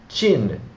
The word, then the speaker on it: Qin: And it also preceded the Qin dynasty, which is spelled Q-I-N.